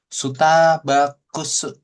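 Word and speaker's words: スターバックス: Sutabakusu.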